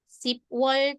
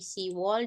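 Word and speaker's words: 시월: si ya hilang bie hilang menjadi se wall. Oke. Jadi ini bukan sip wall tapi se wall dan ini bukan yuk wall.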